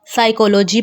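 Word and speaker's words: psychology: साइकोलॉजी पढ़ेंगे, P नहीं पढ़ेंगे।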